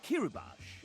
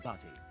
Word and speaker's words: Kirubash: This one, Evan wrote the note Kirubash is pronounced Ki-ru-bash, not Bati, smiley face.